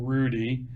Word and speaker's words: Roody: It's spelled Roody, for those of you who don't know, like a kangaroo, Rudy.